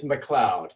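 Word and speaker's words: McLeod: i can catch it so i can it's mccloud it's i'll spell it for you it's m c capital l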